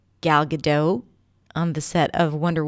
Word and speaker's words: Gal Gadot: And she coached a lot of big names like Gal Gadot on the set of Wonder Woman 2, or shall I say it with a proper pronunciation because I know how to pronounce her name, Gal Gadot, as well as Brosnan, McAdams, Penelope Cruz, so